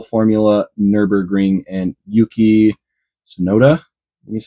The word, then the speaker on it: Tsunoda: 2023 Red Bull formula nurur ring and Yuki sonoda is how you say his name that was